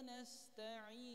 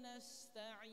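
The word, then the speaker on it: نستعين: wa iaka n Nah di sini juga ada sin dia punya sifat Hamas ada udara kanas nah Kadang orang mengucapkan Sin kadang di sini Ee tidak ada sifat hamasnya kadang iyaka na'budu wa iyaka nastain nah memang Sin Betul tapi sifatnya ada yang hilang hamsnya harusnya Jelaskan iyaka na'budu wa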